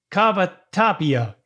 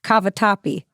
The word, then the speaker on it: cavatappi: first one was sweet Beat cup I can't pronounce it kava Tapia you want me to help you yeah it's Southwest beef cavatappi okay Southwest beef Cafe topi there you go